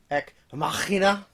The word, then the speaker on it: Ex Machina: It is pronounced Ek Machina. It's a good one. Did you not put Ex Machina down?